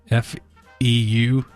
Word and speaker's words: feu: F-E-U. Feu. Feu. Feu. Lit feel. Feu. It's a weird sound. We don't have that in English, really, do we?